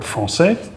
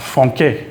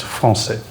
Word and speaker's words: français: And that basically just means it turns it into an S sound. One of the most common places in which you would see this is in the word français, French. It's not franquet without the cd. It would be franquet. This way, it's français.